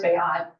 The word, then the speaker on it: Beat: And then there's a guy who's done this 8 times, Bayat, it's spelled beat, but his name is Bayat.